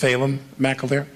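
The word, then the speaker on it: Phelim McAleer: did Frac Nation fail it's pronounced phalem mcilver so this guy who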